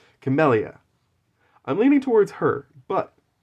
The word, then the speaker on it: Camellia: So I'm leaning towards Camilla. Or Camellia, sorry. I keep pronouncing her name wrong. Camellia.